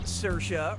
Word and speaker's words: Saoirse: Getting more wrong than I'm getting Saoirse right.